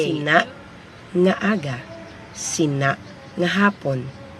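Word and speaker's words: sinâ: It's spelled SINA, but the A has an abrupt stop sound. So you say SINA. When it's written, there is a caret or this symbol on top of the letter A.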